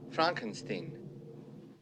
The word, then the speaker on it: Frankenstein: response to Frederick saying his last name is pronounced Frankenstein. Frankenstein.